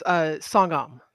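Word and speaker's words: Songahm: Did I get that pronounced right? Sogam? Yeah, it's Songam.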